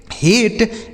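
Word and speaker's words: hate: लेकिन अगर ए के बाद आर के साथ इ लिखा हो। किसके साथ? आर के साथ अगर इ लिखा हो तो उसे हम ए पढ़ेंगे। ठीक है? ए या पढ़ेंगे।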